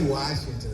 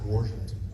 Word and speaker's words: Washington: Seattle, Washington. 51 years ago. Went to the military and never went back. Washington. Washington. Washington. Yeah. I don't say Washington. It's Washington.